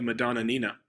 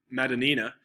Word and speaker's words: Madonnina: I don't want to say the Madonna Nina. That's too many uhs, but it's Madonnina from Italian painter Roberto Ferruzzi, 1897.